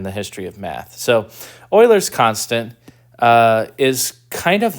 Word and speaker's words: Euler: Okay, this is Euler's constant. And I say, Euler's constant. All right. You say, it's not Euler? No, it's pronounced Euler.